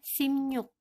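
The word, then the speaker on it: 십육: Hip Hai 19 sidqu Nah ada yang sedikit spesial ya pengucapannya yaitu 16 dibacanya skim Yuk ini dibawahnya bukan si Cibiuk ketika pengucapan bukan seperti keep yuk Bukan itu tapi seakan-akan yang dibawanya itu menjadi minum dan yang ditata sini menjadi Minion jadi bacanya SIM yuk selanjutnya untuk puluhan ini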